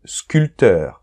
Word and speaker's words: sculpteur: mots d'accord par exemple sculpteur on ne prononce pas le p 20 on ne prononce